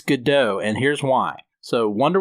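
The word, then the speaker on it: Gadot: to he is reading waiting for gdau and I think that that's supposed to be a nod to how you're supposed to pronounce her last name that's I've always said it gdau but I keep hearing it gdat lately but anyways um her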